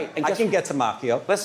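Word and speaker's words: Macchio: It's Mchio and I can get to him if I wanted to. It's Oh, yeah. I can get to Makio.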